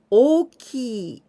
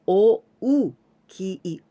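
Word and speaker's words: 大きい: okey means big one very important thing when you write this o key in hiragana is you must write a double o it means o many people may confuse with o ki oki but here o n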